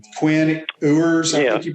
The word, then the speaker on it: Quinn Ewers: Quinn Ewers, I think you pronounce his name.